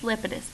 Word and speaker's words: Lepidus: who the Fed does I believe it's Lepidus because that makes more sense as to how it's spelled alright so anyways just want